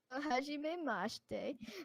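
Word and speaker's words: はじめまして: Hajime Mashite means like nice to meet you. That is the proper way to say it.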